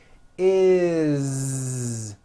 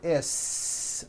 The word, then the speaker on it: is: Is. It doesn't matter that it's spelled with an S. It's never is, unvoiced, never. It's always is with a voiced Z.